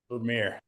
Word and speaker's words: Vermeer: Vermeer.